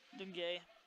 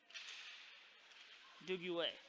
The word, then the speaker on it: Duguay: Stopped by Irwin on Dungay, or Dungieri, or excuse me, Duguay.